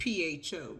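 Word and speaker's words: phở: It looks like PHO, but it's pronounced pho.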